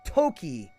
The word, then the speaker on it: Toki: No, Dark Rolls, time is Toki.